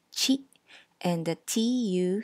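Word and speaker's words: ち: Notice that the ti syllable becomes chi and the tu syllable becomes tsu.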